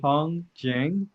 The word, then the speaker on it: Hong Jiang: having a discussion with Professor Wong Jing am i pronouncing that correctly correct okay okay about the